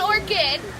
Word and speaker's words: orchid: together so it's an orchid is how it would be pronounced she did good though because it is a CH and that's very confusing but yeah it's an orchid and an orchid actually